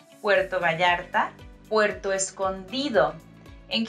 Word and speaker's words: Puerto Escondido: g sound Puerto Vallarta Puerto Escondido and here remember that letter D sounds like in dentist so it's like a bit hard Puerto Escondido and Puerto